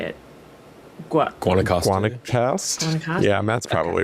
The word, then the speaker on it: Guanacaste: Guanacaste.